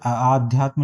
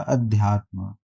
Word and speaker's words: अध्यात्म: यह यहां पे आध्यात्म लिखा है। जबकि सही उच्चारण होता है इसका अध्यात्म।